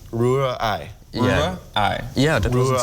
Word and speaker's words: Rührei: So you have to separate it, Rühr, and then Ei. Rührei. Yeah. Rührei. Yeah, that wasn't so Rührei.